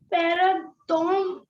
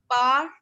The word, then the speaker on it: pardonne: Yes ma'am Ma'am, the pronunciation is pardon. No. Pa. Listen to the pronunciation right in Hindi. Pardonne.